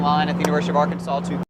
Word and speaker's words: Arkansas: So everybody in line at the University of Arkansas to... It's pronounced Arkansas. The other one's Kansas.